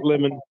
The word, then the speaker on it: Lemen: It's pronounced just like the fruit, lemon.